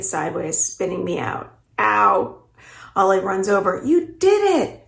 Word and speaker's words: Ollie: Ale? Rhymes with sail? This is how people who don't know her usually say her nickname. It's actually pronounced Ollie.